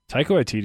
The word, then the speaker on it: Taika Waititi: Taika Waititi is just a gem. And good pronunciation on his name.